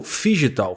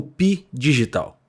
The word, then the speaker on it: phygital: 2 notas da narração o termo figital foi pronunciado como pi digital a pronúncia correta é fi de Physical ou seja físico em tradução livre e digital de digital portanto quando o termo pi